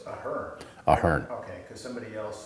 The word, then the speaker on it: Ahearn: Okay, so it's Ahearn. Ahearn. Okay, because somebody else said, "Oh, you're going to see John Ahearn." So Some people, my older son pronounces it Ahearn because okay.